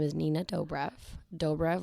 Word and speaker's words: Dobrev: Dobrev, like doughboy, not Dobrev, not Dobrev, not Dobrev, whatever people say.